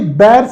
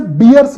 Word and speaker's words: bears: The dash were arrested for illegally hunting the bears भाई बेयर्स का meaning होता है भालू, और इसे बियर्स नहीं बोलते, बेयर्स बोलते हैं, याद रखिएगा।